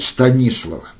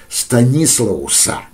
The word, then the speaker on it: Станислаус: И вот он встречает Станислава. Станислауса, так, наверное, правильнее, но нам, на наше ухо, удобнее произносить Станислав.